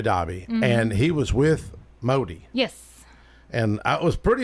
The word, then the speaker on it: Modi: Modi.